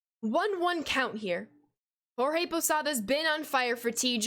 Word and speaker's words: Posada: possibly possibly posada yes whenever there is a d in between vowels in the spanish language a d is pronounced as the posadva you might think i'm pronouncing it wrong or it sounds funny to you but it is pronounced posada um i know you